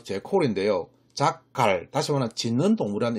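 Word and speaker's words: jackal: 이번엔 자칼이라는 동물은요, 어디서 나왔냐면, 발음은 정확히 제콜인데요.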